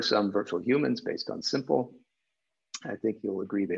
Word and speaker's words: SMPL: to define a very simple and there's no it's not a surprise that that smpl we pronounce it simple um it was designed to be simple we had a skate model